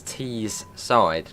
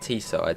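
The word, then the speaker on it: Teesside: So I think you actually pronounce it as T's side, not T-side, T-side.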